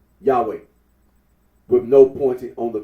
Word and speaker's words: Yahweh: yahi the scholarly consensus is that the original pronunciation of the Tetra gramon was yahwe arino agrees that when in the late first